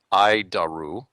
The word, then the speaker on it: ADIRU: data initial reference unit we pronounce it id daru id daru it's horrible name I'll keep trying ID